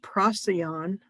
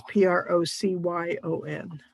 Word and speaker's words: Procyon: That's Procyon. It's Procyon. I should give you the lesser dog star. At least that's how I pronounce it.